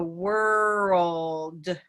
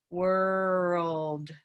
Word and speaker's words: world: So world, world. And that's what you're hearing when you hear that second syllable, is a lot of movement. If you're trying to touch up here for world, world, it can start to sound a little odd.